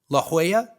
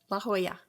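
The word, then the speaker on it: La Jolla: uh to be laa La Hoya La Hoya why don't they why don't they spell it like that I only know that because my dad lived there oh but why don't they spell it like that why is it j o l l a i guess it's probably Southern California so it's probably heavily influenced by espanol which makes a lot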